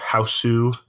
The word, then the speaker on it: Hausu: So so we watched the 77, something like that, 1977 Japanese movie House, or Hausu, as it would be pronounced in Japanese, I guess.